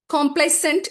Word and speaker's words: complacent: We'll go over the next word complicent and complicent both pronounces the same and this is a question which came in 2022 and it used to come repeatedly.